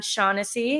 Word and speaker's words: Shaughnessy: And then we have on our show today from SERHANT Agency, it's John Shaughnessy. Is that how I pronounce it?